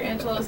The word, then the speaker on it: Angelou: it that way but we're going to pronounce Dr Angelo's name the way that she herself pronounced it so another quote